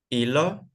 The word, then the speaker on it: hilo: And H in English doesn't have sounds. Never, never have sounds. So when we have some words in Spanish with H, for example, if I write this word, how can you pronounce this word? Hilo. Exactly. You don't pronounce H.